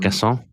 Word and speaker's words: Guessand: Um Gassan Gassan Ganon.